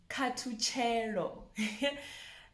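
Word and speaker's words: Khathutshelo: So if you notice, there's that THU, that's two. Katuchero. And the TSH is ch. Katuchero.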